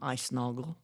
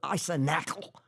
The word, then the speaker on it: Icenoggle: Boy, she butchered the name Icenoggle. She called it Icenackle.